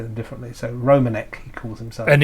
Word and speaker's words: Romanek: do um do tend to have their own pronunciations of of European names that Europeans want yes might say them differently so romanik he calls himself and it's aluminum well actually